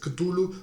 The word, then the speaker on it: Cthulhu: Tulu se puede pronunciar a veces Tulu, a veces Cthulhu, realmente que cada uno lo pronuncie como mejor pueda.